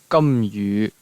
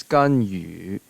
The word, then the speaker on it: Ganyu: And then we have Ganyu, which in Cantonese is Gamyu, Gamyu. The Japanese is Kangwu, Kangwu, and then the Mandarin is Ganyu, Ganyu.